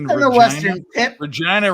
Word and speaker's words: Regina: Regina rhymes with vagina.